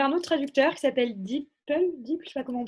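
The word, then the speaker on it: DeepL: nous a recommandé un autre traducteur qui s'appelle d'ipl dit pas comment prononce je connaissais pas du tout intéressant c'est le google google translate vous m'entendez la we wept donc ses apparats a priori ça se prononce d'ipl ouais ouais c'est meilleure qualité que google france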